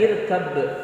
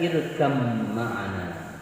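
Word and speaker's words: ارْكَب مَّعَنَا: Nah, pada lafaz irkab ma'ana membacanya harus diidghamkan, bukan dibaca irkab kemudian diikuti qalqalah sughra lalu ma'ana, tapi harus dibaca irkam ma'ana. Ya, jadi huruf ba-nya lebur kepada huruf mim yang sesudahnya.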